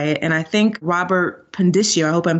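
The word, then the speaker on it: Pondiscio: And I think Robert Pendicio, I hope I'm saying his name correctly.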